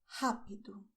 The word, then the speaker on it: rápido: So pay attention: the sound is with your throat, the same way as you pronounce "hot" in English.